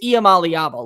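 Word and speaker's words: Iamaleava: room I've heard that people are upset that Nico's last name can't be pronounced right it's IAM alabo let's just go ahead and get that straight I've heard everything under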